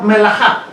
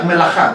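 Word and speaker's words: מלאכה: Ya les dije que se escribe melaka, pero se pronuncia melajá. La K se pronuncia como J, ¿ok? Es melajá.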